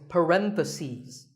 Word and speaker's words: parentheses: you're talking about both the plural is parentheses the last syllable becomes sees parentheses word number 47 is